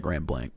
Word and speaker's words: Grand Blanc: Now, in Grand Blanc, uh I think we call it Grand Blank. Uh is how you say it.